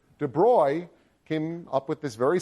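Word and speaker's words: de Broglie: So De Bruy and that's how you pronounce this name. De Bruy came up with this very simple relationship between the wavelength of matter and its velocity.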